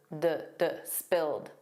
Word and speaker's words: spilled: In American English, it's always spilled, a soft D, but in British English, it's spilt, spilt.